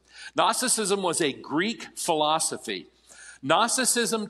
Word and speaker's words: Gnosticism: and that heresy was Gnosticism with a silent G in the front of it Gnosticism Gnosticism was a Greek philosophy